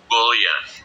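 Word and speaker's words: bouillon: i l l o n How would you pronounce this word bullan bullan say it again bullan bullan It's a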